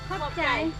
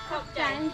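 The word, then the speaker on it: ຂອບໃຈ: Khop chai. Khop Thai. Khop chai.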